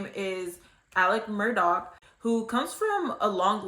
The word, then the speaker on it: Murdaugh: Now, Alex Murdaugh, and it's spelled Alex Murdaugh to most people. Like, if you see it, that's probably what you would pronounce it as. But from my understanding and from a lot of people's corrections, it's actually pronounced Alex Murdaugh.